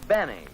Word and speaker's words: Benny: doctor no this is Jack Benny rhymes with Penny if he can arrange